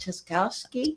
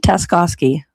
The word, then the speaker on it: Tascowski: Tascowski. Well, that was close. Yeah, it was close. Yeah. I used to substitute teach and I would tell the kids it's task like a small job.